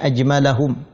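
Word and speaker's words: أجملهم: Wa ajmalahum, wawnya adalah adhab sehingga dibacanya ajmalahum, dan yang paling elok, paling gagah, paling ganteng.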